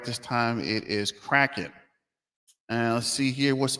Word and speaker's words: Kraken: uh let me see kraton not crate Kraken and it's actually cracking right so I did get that wrong uh I kind of said it wrong on purpose in the first video just to get more uh hits but actually it is cracking like they're cracking from what is that uh